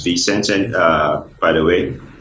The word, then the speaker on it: ViSenze: the four co-founders of the sense it's not pronounced by census fee sense and by the way it's a it's a